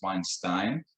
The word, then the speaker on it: Weinstein: I have gone through a lot of times, in my life, my last name is Weinstein, like Einstein, with a W in front of it.